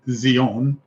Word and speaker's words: Zion: her count her Towers Zion or actually Zion is a better way to pronounce it Zion and Hebrew means something completely different so walk about Zeon